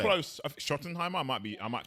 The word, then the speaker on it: Schottenheimer: Right, I can't pronounce it. Brian Schottenheimer. Is it Schottenheimer? Right, you say close. Schottenheimer.